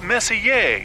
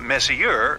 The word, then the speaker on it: Messier: well young lady the m stands for Messier pronounced Messier not Messier as in is your room messier than mine Charles miss here I mean Messier